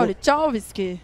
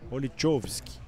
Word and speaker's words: Olichowski: Vieram aqui três vezes pra falar como que se pronuncia o nome do... Eu errei, você errou também. Não, é Olichovski. Parece que é o... Então, agora também eu já não sei, mas... É o Ivan. Olichovski.